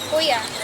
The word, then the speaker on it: Joia: JOIA. Is that how you pronounce it? Yes, that's right. JOIA.